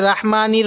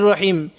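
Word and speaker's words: الرحيم: রাহমানির এরকম পড়বো না রহিম এটা আমরা অনেকে রাহিম পড়ি রাহিম পড়বো না আর রহমানির রাহিম এবার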